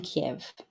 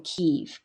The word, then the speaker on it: Kyiv: So this is all in Kiev, or Kyiv. Kyiv is the more Ukrainian pronunciation.